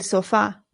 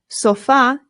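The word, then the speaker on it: sofá: But in Spanish, the stress goes on the A. And we know that because of the accent right here. So it becomes el sofa.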